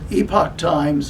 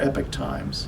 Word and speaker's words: Epoch Times: they really uh pronounce epoch times or epic times and i can report to you authoritatively that people in new york city at the headquarters pronounce it both ways rob thanks for everything